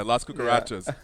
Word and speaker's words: Las Cucarachas: Yeah, Las Cucarachas.